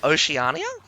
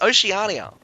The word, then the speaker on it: Oceania: How how do you say that? Oceania. Is it Oceanania? That That's terrible. I like Oceanic. Oceanania. It's Oceania, which is which is hurts my hurts my brain.